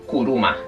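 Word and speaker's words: くるま: Os voy a escribir la palabra coche, que en japonés se dice kuruma.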